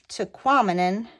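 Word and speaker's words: Tahquamenon: toquam and re REM toquam and rhymes with phenomenon and so every time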